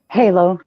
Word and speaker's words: Halo: Is it pronounced Halo or Hollow? Halo, like the game.